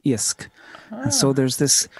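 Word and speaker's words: iasc: But Hiskadi, that word there, IOSC, kind of to me sounds like the word in Irish for fish, which is I-A-S-C, isk.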